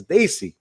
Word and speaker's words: Desi: I got him to pronounce the word Desi right. He was part of that Desi crowd. It's Desi, like they see, like they see you, right?